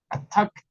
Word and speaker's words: attacked: Y no estás pronunciando la e, sino que el sonido de la k y de la d, que suena como t, porque es una consonante sorda, ejemplifican perfectamente un verbo al pasado simple.